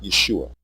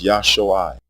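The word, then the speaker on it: ישועה: is the noun salvation the original and correct pronunciation of this word is not Yeshua it is yuai with pure vowel sounds the pronunciation Yeshua has two degraded vowels a short e and a long u the e is a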